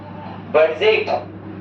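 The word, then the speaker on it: budget: बजेट नहीं इसको ना बजेट बनेंगे।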